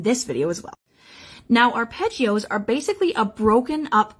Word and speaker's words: arpeggios: Today we're talking arpeggios. Now, arpeggios, we do not pronounce it like that, even though it's kind of fun.